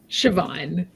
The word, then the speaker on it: Siobhan: And last, but definitely not least, we have uh Siobhan. Am I pronouncing that correctly? Siobhan.